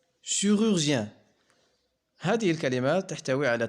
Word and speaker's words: chirurgien: chirurgien, chirurgien. هذه الكلمات تحتوي على 3 مقاطع صوتية. الأول يتكون من 3 أحرف CHI dans le son chi se prononce chi comme le mot chiffre.